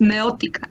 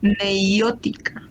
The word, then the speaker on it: meiótica: Empecemos por pronunciar bien, no es meótica, es meiótica. Sí. A ver, repita bien, señorita. Meótica no hay. Meiótica sí.